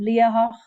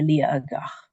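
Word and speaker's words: Liathach: So like the word Liahach, the mountain Liahach, if you pronounce it as a standard Gaelic, you would say Liahach, but the locals actually say Liagach with a G in the middle, Liagach.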